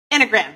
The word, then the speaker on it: Enneagram: She is also trained in, let me see if I can pronounce this correctly, the Enneagram. Enneagram.